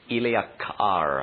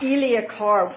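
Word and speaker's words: Illiak'ar: our ancient Remnant language and that's what yes Ilia car Ilia car and could you spell it please if you wish it can translate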